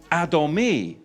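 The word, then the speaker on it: אדמוני: Because when you look at the Hebrew for ruddy is Adomi. Adomi, and it's spelled Aleph, Dalet, Mem, Nun, Yod.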